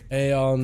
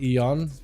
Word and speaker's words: Aeon: It's pronounced Aeon, not Eon.